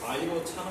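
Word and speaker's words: Vairocana: 있죠 뭐 비로자나불 들어봤죠 그쪽 원래 그쪽 발음으로면 뭐 비자가 아니고 뭐 바이로 차나 아 이렇지도 그게 나오는데네 이거를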